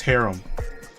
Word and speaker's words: haram: Is it herum or Haram? I I don't I don't remember. Wait, hold on. Let me Let me Google it real quick. Okay, it's Harum.